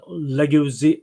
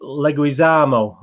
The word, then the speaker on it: Leguizamo: sorry stars John Sena keegan-michael key and John legacy Leguizamo okay and pronounce our Leguizamo anyway any good well Metascore